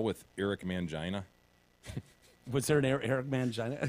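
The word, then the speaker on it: Mangini: the call with Eric mangina but Sir Eric mangina he demanded it be pronounced man Gina Manto's people yeah anytime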